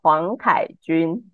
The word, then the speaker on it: Huang Kai-Chun: My Chinese name is Huang Kai-Chun.